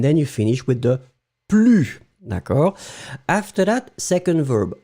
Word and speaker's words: plus: Ne in the first place, then you put your verb, and after that you will finish with plus. Remember, you don't pronounce the S at the end of plus.